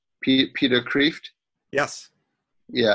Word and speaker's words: Kreeft: a person called Peter Kreeft yes yeah I will pronounce it Pater caved do you know what caved means in Dutch no it means lobster Creeft means lobster in Dutch mm-hm I had no